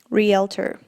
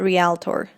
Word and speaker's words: Realtor: So she has a really good pronunciation. Realtor. Not realtor.